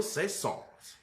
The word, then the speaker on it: Saint-Saëns: Camille Saint-Saëns.